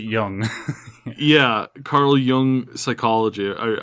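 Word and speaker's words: Jung: Union y uh Carl Carl Young it's not Young's it's it's yeah I know but pronounce it Yung Yeah Carl Yung psychology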